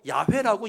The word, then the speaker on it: 야훼: 히브리어로 야훼라고 이야기하는데 이것을 영어식으로 발음하다 보니까 여호와 그럽니다.